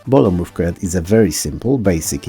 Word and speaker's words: Bolo Mrówkojad: Bolo Mrówkojad, which is actually pronounced Bolo Mrówkojad, is a Polish side-scrolling platformer.